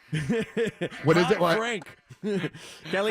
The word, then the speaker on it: Caliendo: What wrestler is it Frank Caliente? What is it? Frank Caliendo. Frank Caliente it's Frank Caliendo, right?